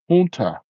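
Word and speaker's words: junta: Yeah, pronounced honta. Oh yeah, that's right. Yeah, the h is I mean the j's in Spanish are pronounced Yeah.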